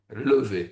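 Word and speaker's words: levée: In France, uh they are mostly called dig, but locally on the lower river, they also called levies, levy, sorry, with the French accent.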